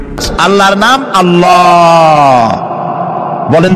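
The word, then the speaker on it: الله: আল্লাহর নাম আল্লাহ বলেন তো আল্লাহ নয় কিন্তু আল্লাহ হচ্ছে অশুদ্ধ শুদ্ধ হচ্ছে আল্লাহ বলার সময় মুখটা গোল হয়ে যাবে বলেন তো সবাই উচ্চারণ করেন আল্লাহ আবার বলেন আল্লাহ আবার বলেন আল্লাহ সুবহানাল্লাহ কি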